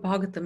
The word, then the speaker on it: Bhagavatam: Bhagavatam actually is, the word Bhagavatam is 4 syllables.